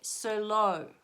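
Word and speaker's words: Cirlot: Sirlot. So you spell it C-I-R-L-O-T. Sirlot.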